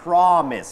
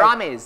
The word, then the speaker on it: Promise: อย่า ลืม นะ ครับ คำ ว่า Promise ออก เสียง ว่า Promise ไม่ ใช่ prise Promise ใช่ ครับ Promise แล้ว ก็ มี คำ